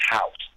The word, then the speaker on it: Howse: It's spelled Howse, but it's pronounced House.